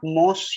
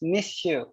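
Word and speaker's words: Monsieur: all right means sir all right the correct pronunciation is missile it's not most you know it's miss you all right madame madame you know it's ma'am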